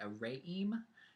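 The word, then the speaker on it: Re'em: for pronouncing it right a ray eeem it's re apostrophe eeehm and so it's a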